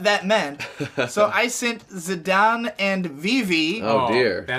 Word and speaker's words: Zidane: yeah, I'm just saying, I always called him Zidane. It is actually supposed to be pronounced Zidane, but who gives a fuck?